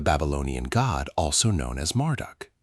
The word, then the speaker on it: Marduk: Beltazar, pronounced Belt Shazar, likely invokes Bell, pronounced Bell, the Babylonian god, also known as Marduk, pronounced Marduk.